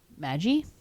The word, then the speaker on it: Magi: and then i found out the mag g maggie yeah you hear your notes phonetically huh because they knew it was going